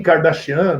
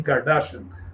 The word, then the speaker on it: Kardashian: de rock, pela Kim Kardashian, né, o pessoal fala Kim Kardashian, numa pronúncia anglo-saxônica, mas no armênio seria Kardashian, né, como temos aqui, né, em Goiânia, o ator Stepan Nersessian, que é de origem armênia.